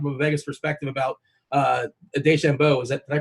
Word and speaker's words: DeChambeau: We were talking from a Vegas perspective about DeChambeau. Did I pronounce that correctly? DeChambeau?